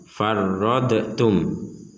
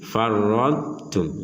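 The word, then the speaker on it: فرطتم: Kata farradtum di sini tidak boleh dibaca mental. Contoh, farradtum itu salah. Atau dimasukkan dot dimasukkan ke ta, itu juga salah. Contoh, farradtum. Yang benar adalah dotnya ini tetap ada makhraj dan sifatnya, kemudian baru mengucapkan makhrajnya ta. Contoh, farradtum. Jadi dotnya tetap harus ada sifat dan makhraj yang diucapkan walaupun tidak ada harokat.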